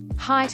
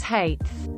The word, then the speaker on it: height: thanks for the awards height as hate makes me irrationally angry